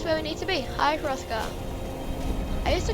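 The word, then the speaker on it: High Hrothgar: we need to be hi rothka I used to call it high Hott but it's not as high RKA although I think the H is silent and there it is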